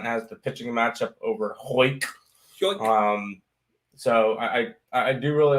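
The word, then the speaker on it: Houck: Yeah, and it's Tanner Hoyk.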